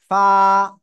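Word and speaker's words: ف: ফা, নিচে টোটের পেট, উপরে দুই দাঁতের আগায় লাগাবো, লাগিয়ে হালকা বাতাস বের করে এক আলিফটা নিয়ে উচ্চারণ করব।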